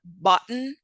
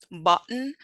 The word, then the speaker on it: button: glorus for example when we pronounce the word button button notice how there's a stop between um the first two sounds that is our gloal uh stop all right so with